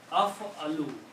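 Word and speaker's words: أفعل: So I can pronounce now this word. This will be af-a-lu.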